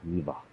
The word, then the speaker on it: Neva: Neva, which they apparently pronounce with a V. Neva.